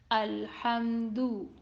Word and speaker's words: الحمد: So, Alhamdu is commonly read Alhamdu. That is not correct and it is majhul sound. Its Dhamma should be read with the sound of letter U. Alhamdu. Alhamdu.